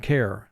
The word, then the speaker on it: care: The second situation is when you have a vowel plus the letter R followed by the silent letter E. The vowel plus the letter R cannot form a team in that instance. The vowel usually will make its long sound, and the letter E will be silent. And then 2 words are given to exemplify that situation, fire and care.